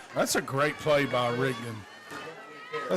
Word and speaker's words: Rigdon: That's a great play by Rigdon. Did I say his name right? Rigdon McCall, yeah.